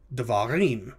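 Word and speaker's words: דְּבָרִים: When it is pluralized, the first vowel becomes a shava. So the word becomes devarim, words.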